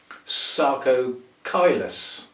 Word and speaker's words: Sarcochilus: Sarcochilus. There's a CH there. There's a C on its own and a CH, both pronounced with the hard C, and yet Prostechias are usually CH.